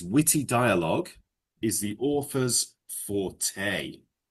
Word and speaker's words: forte: But it's pronounced forte. Forte. Yeah. It's a French word.